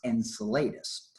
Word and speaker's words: Enceladus: It is called Enceladus, or I've heard it pronounced Enceladus.